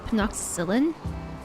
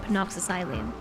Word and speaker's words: Penoxycyline: Also, Celentre yesterday pronounced this as penoxycyllin. And I realized that's probably how you say this, penoxycyllin. I have, for my entire, 2,500 hours in this game, pronounced it penoxycyline. But it is probably penoxycyllin.